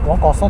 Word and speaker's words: 若桜: 若い桜と書いて若さと呼んでます。